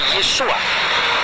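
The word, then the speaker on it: Yeshua: Sehingga ketika orang membaca nama Yesus, ketika dia orang Yahudi, dia pasti membaca Yesua.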